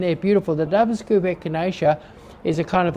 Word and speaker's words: Echinacea: scoop bubble gum, I'm going to mispronounce this, acacia, this season or at all? Echinacea. Echinacea. Okay, there we go.